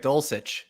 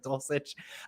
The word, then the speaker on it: Dulcich: know Albert okue uh Greg dulcich the first C is uh s it's dulcich um I I think I mean I guess yeah Greg dosage I guess I've never